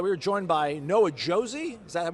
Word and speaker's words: Josey: We are joined by Noah Josey. Is that how you pronounce it?